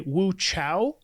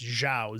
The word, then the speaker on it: Zhao: So, a lot of people will say Woo Chow, and that's what's considered a romanization, to my knowledge, of her actual name. And her real name was actually pronounced Xiao, Z Ha Oo.